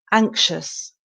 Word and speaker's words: anxious: feel anxious um and the x is silent so I always say think of it like a K ank anxious anxious um and the